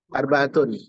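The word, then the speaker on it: أربعة: Bacanya bukan arba. Arbaatun. Ya, arbaatun. Dia kapan dia kapan asalnya adalah arbaatun. Dibaca dia arbaatun arbaatan. Ya, arbaatan. Dengan tanwin, bukan arbaatu, tapi arbaatun. Sama kayak kita menghitungkan 1,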